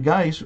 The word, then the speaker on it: Geis: Mainly because his last name, Geis, rhymes with nice.